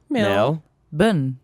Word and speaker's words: Melbourne: You want to say it right first? Melbourne. Burn. Boy, Burn, right? Melbourne. Jason Bourne. Born. Melbourne. Mel. Mel. Bun. Bun. Melbourne. Melbourne. Isn't there? Brisbane. Bun. Brisbane. Brisbane. Perth. And one is spelt Bane and the other one's spelt Bourne, but Good. it's pronounced the same.